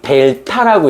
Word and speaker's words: 델타: 요게 뭐라고 읽으냐면, 지금 이제 기초편이니까 요거를 델타라고 읽어요, 델타.